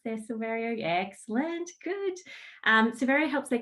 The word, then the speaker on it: Silverio: He is Rfider's Global Head of Sales, and hopefully I got the name correctly pronounced there, Silverio.